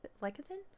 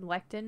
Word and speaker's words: lecithin: Sunflower lecithin? How do you pronounce lecithin? I've said lectin my entire life, and now lectin my life sounds right.